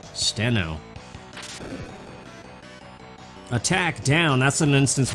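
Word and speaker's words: Stheno: Stethno? No, that wasn't even how you say it. Steno.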